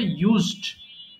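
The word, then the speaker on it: used: ইউজ থেকে লাস্টে ডি এসছে পাস্ট করার জন্য উচ্চারণ হয়ে যাবে ইউজড ইউজেরি কবর দেওয়া বা কোন কিছু মাটি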